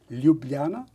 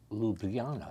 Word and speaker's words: Ljubljana: Ljubljana, Ljubljana.